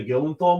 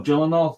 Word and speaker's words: Gyllenhaal: so the one problem I have with the Gillan Thal movie is jenal you keep saying it wrong oh Gyllenhaal sorry the one problem I have with the